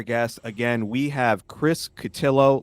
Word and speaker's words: Cotillo: again we have Chris catillo last name rhymes with pillow he's a writer at